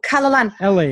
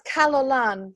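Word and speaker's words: Calon Lân: n l a n how do you say that Kina oh can you spell that again c a l o n i a an I believe oh kalalan so that kalalan that is actually a Welsh because my my mother's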